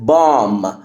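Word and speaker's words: bomb: ارب ارب ارب كلمه بام بام قنبله الام لما بقى جاي بعدها بي البي بتبقى سايلنت يبقى هنا البي سايلنت فبنقول بام بام بام بام عندنا كمان كلمه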